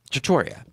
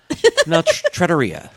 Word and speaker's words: trattoria: a Roman style trattoria trattoria trattoria know the penultimate symbol syllable in a time trattoria all right however and remember